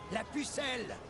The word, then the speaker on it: La Pucelle: They fired artillery into the night sky and shouted aloud their nickname for Joan, La Pucelle!